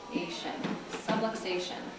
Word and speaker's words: subluxation: with the word is subluxation subluxation rhymes with subway station that's just a big